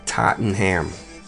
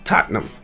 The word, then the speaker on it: Tottenham: See, most people would say Tottenham. It's Tottenham.